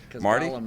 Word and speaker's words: Golem: called golum uh but first of all Golem golum is that how you pronounce it well that's how we pronounce it all right very nice golum is the uh enemy in uh Lord of